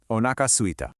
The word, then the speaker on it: お腹すいた: The first word is 3 little beats. O-naka. And the second part is 2. Suita.